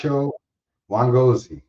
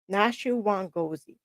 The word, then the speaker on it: Nashu Wangozi: Not Nasho Wangozi. Nashu Wangozi. And he's from Nam- Namibia.